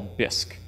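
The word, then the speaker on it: BISC: this that I call bisque just because it rhymes with risk and Sisk and I thought it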